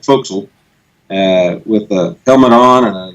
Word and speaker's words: forecastle: as we call it it's spelled forecastle but we called it fo'c'sle with coming on and